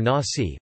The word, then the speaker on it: Nazi: The National Socialist German Workers' Party, or Nazi, pronounced as Nazi in English, were devoted to what